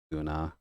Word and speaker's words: Gunna: Although I guess that's technically pronounced Guna because of the double syllable thing, but it could be Gunna as well.